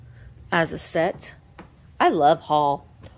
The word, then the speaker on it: Hull: I love Hull. I say it wrong. When I'm saying it Hull, it sounds like I'm saying Hall, but it's Hull with a U.